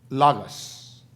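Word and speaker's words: λόγος: Cuando la palabra dice el verbo, en la lengua original es pronunciado logos.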